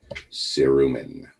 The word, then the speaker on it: cerumen: wax that's the test question is how it's pronounced cerumen the medical term for earwax now some people